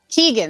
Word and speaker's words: Keoghan: And it's yeah, I had his name wrong. It's Barry Keoghan. Keegan, that's it, Keegan.